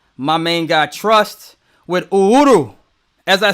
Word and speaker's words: Uhuru: Yeah, I said it right. Uhuru. It's Swahili.